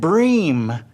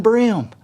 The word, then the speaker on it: bream: for a piro and he says bass and bream instead of bass and brim what it just that drives